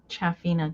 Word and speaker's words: Shafina: I've always said Cha Chaffina, too. She said that was right.